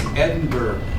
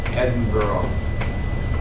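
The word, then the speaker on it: Edinburgh: 1847 in it's Edenberg you know it's actually they pronounce it edenboro even though it's got a GH on theend edinb Ed Eden his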